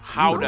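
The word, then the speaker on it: Gouda: And the pride and joy of the nation, howdah no cheese. That. Yep, that's how you pronounce it, guys.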